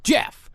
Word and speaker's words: Gef: So by 1932, the entity proclaimed that he preferred to be called Jeff, spelled with a G and one F.